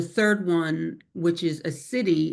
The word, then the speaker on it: siddhi: And then the third one, which is a city, it's spelled SIDDHI.